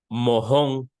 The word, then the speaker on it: mojón: Mojón. Mahón. Mojón, mahón. El mojón. El mahón.